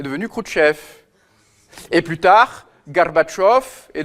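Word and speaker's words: Горбачёв: Kchef et plus tard Garbatchov est devenu Gorbachev alors que son nom c'est Garbatchov.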